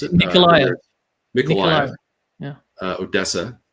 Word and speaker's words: Mykolaiv: They're going to go for another 4 oblasts in Dnipro, Petrovsk, in Mykolaiv is how you pronounce it. Mykolaiv. Yeah. Odessa. It's pronounced differently in Russian, of course.